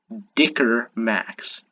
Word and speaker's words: Dicker Max: and they could take a little bit of dicker max that's how you pronounce it pushes up I try to hu